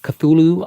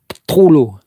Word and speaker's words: Cthulhu: Lovecraft, The Call of Cthulhu. I'm not sure. Cthulhu. You're supposed to make it 2 sounds.